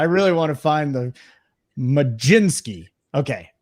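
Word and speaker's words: Mlodzinski: Carmen majinski have a there's no G in there no way who told you that baseball reference if you're ever looking for a uh for pronunciation just go to baseball ref majinski I don't know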